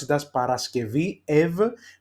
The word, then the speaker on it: Παρασκευή: let's take for example Παρασκευή, Friday. You see there is we pronounce it as Παρασκευή ev because it's a vowel after, it's an eta.